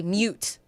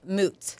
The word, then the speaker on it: moot: Basically, moot point is debatable or irrelevant, A lot of people say mute point. Well, mute just means silent, so a silent point. But the saying is moot point.